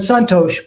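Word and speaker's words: Santosha: see it as s-a-n-t-t-o-s-h-a some people will take off the h and put an accent on the s because it's a different type of s but but santosh pretty much how it sounds and it means mental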